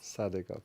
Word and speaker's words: Sadikov: And let's see how we do with the Russian pronunciation here. Shokhrukh. Shokhrukh, yes. Shokhrukh. Yes. That's first name. Sadikov. Sadikov, right.